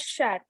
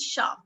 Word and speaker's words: chat: they pronounce it as chat. No, sha. The correct pronunciation is sha.